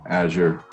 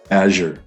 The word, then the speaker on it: Azure: were rolling azure and balmer said azure rhymes with badger well that's rhymes with badger badger yeah does not rhyme with badger but as long as